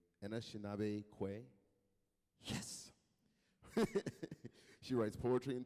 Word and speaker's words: Anishinaabe Kwe: Anishinaabe Kwe.